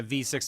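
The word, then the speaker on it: VVVVVV: Yeah, V 6 times. Sure. It is literally Oh, just pronounced V6? V, V, V, V, V, V. So that's why everyone says, I say like V6 or V 6 times.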